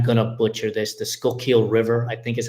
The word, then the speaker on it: Schuylkill: And it was an experience, running down by and I'm going to butcher this, the Schuylkill River, I think is how you pronounce it. Close. But it was Schuylkill, but super close.